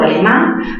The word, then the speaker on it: alemán: Alemán, mayor fuerza en qué sílaba? En la sílaba man.